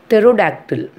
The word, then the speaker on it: pterodactyl: Pterodactyl. The spelling is Pterodactyl, but we are pronouncing as a pterodactyl.